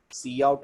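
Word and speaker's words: cout: नाम पढ़िए है ना सी आउट और सी इन पढ़ना है काउट किन नहीं पढ़ना है मैंने बहुत सारे बच्चों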